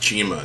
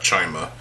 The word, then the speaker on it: Chima: We're going to be talking about Legends of Chima, because it's pronounced Chima, not Chima.